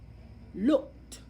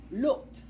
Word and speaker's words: looked: It has the ED sound in looked, looked, looked. Okay, it has the T sound at the end because you hear the T, looked, looked.